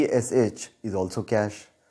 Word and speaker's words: cache: सी एच ई इज कैश सी एस एच is also कैश दोनों words का pronunciation same है लेकिन spelling और मीनिंग्स डिफरेंट है अलग है ऐसे वर्ड्स